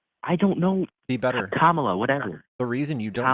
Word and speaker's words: Kamala: I just like how he's pro-life and more pro-life than Camila. That's called a microaggression. Not pronouncing her name right? I don't know. Be better. Kamala, whatever.